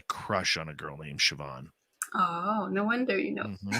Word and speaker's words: Siobhan: Bet she didn't think I would pronounce her name properly, but I did. I actually just learned that yesterday. Siobhan.